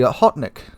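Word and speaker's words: Okhotnik: The Hawknet. Yeah, that's how you say it.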